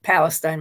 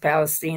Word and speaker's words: Palestine: of the time I I will slip into calling it Palestine myself but that's how they say it is East Palestine and that the least